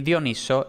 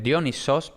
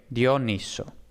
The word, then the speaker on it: Dioniso: que se oye mucho dionisio es un nombre de persona normal y dioniso es el nombre del dios también se le llama mucho diónisos pero eso no es más que la pronunciación griega entonces en español propiamente el dios se llama dioniso jana y sin la y de sio dioniso vale entonces dioniso como posiblemente